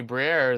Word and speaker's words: Briere: pronounce the last name? Danny Briere.